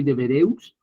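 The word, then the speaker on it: Devereux: George deb de vereus se dice así se pronuncia así de vereus del siglo XXI que aborda el tema a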